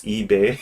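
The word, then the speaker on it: Li Bai: on purpose like apparently I don't know how to pronounce his name in Korean. It's ebec. Oh yeah, yeah, yeah. But like in English it's eBay.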